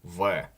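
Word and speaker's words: в: So the first one is V. It looks like a B, like a capital English B, but it's a V. That one is pretty much a Greek letter, but I put it in here just to clarify that despite looking like an English B, it's more like a V.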